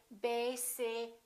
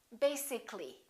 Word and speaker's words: basically: let me show you when we say the word basic it has two syllables if we add a ll Y we don't say basically this a disappears so the a is not pronounced and we say basically take a look at